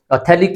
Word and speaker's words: phthalic: PHTH हमारा start होता है, ये PHTHALIC एसिड, इस तरह से कहते हैं। तो इसमें हमारा इसे थैलिक कहते हैं, हमारा पीएच क्या होता है, साइलेंट होता है।